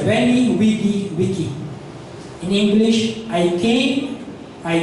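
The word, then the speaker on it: veni, vidi, vici: Kung familiar kayo sa quote and quote Julius Caesar Wenny Widy Wicky pero ano non Venny Vidichi pero ang pronunciation non Wenny Wicky ah sorry Wenny Wigy Wicky in English, I came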